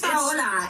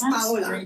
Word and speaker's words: Paola: Her name is Paola, and she's spelled the same way. Paola. Oh. And I told her that's the Gringo version, and your name is Italian. It's Paola.